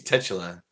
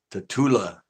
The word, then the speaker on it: Tatula: Yeah, it looks like it should be pronounced tetula, but it's not. It's pronounced. I think it is pronounced tatula or somehow.